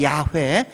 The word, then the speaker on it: 야훼: 그래서 나중에 하나님의 이름을 모르고 발음은 해야 되는데 어떻게 할까 해서 YHWH 자음에다가 아도나이의 모음을 더해가지고 그래서 야훼, 여호와 이런 발음이 나오게 된 겁니다.